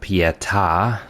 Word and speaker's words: Pieta: Our goal for this episode is to take down Pieta, that is how you pronounce her name, and also make our way to the hub area and explore all of that.